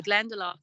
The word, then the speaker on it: Glendalough: which means the valley of Two Lakes so glendalach is it's a couple of miles from where